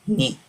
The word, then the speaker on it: knee: with our feet me we don't pronounce the letter K we don't pronounce letter K it's only me and this is our